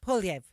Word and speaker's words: Poilievre: And by the way, we did get it's Poilievre, right? So someone told us that's how you actually pronounce the French.